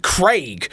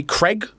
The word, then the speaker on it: Craig: of our listeners, and it's always bothered me that Americans say Craig. Oh, yeah, But then they don't say egg, they say egg. Craig. I say Craig. We say Craig and egg as God intended.